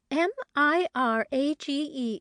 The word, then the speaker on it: mirage: give it up he added marriage and marriage m-i-r-a-g-e is pronounced Mirage said valency shortly picking up her